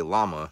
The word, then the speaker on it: llama: Well, first of all, llamas, the proper way to say llama is llama, because it originated in Southern America. Wait, what's she doing? And they called them llamas, and in Spanish, the two L's make a Y sound, and llama means call in Spanish.